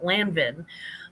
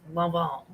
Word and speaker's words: Lanvin: It's pronounced Lanvin, I think. Lanvin, and it's actually Lanvin. So in the Midwest we'd call it Lanvin, but it's Lanvin.